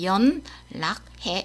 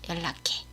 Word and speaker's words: 연락해: 그래서 연은 L 리을처럼 소리 나고요. 그래서 연락해 이렇게 안 해요. 그냥 연락해.